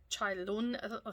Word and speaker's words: Chailun: Chailun, it's how it's pronounced.